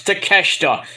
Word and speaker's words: Takeshita: off it's takeshita if you cannot pronounce a Japanese name do not say it foreign all the great